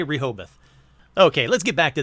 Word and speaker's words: Rehoboth: So we're going to say Rehoboth.